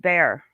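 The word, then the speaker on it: Bexar: to know the real names so baxter is pronounced bear okay bear county bear county okay thank you okay so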